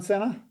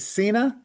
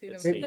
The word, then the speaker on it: Cena: Anyone else have any thoughts on John Senna? It might and is like am I pronouncing that right? Is it Cena? I thought it personally thought it was Cena.